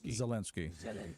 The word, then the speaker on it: Zelensky: Zelensky.